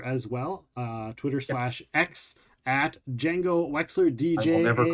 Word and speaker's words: Django: x l r uh that is how it is spelled Jango Wexler on Twitter SLX also Jango Wexler bsky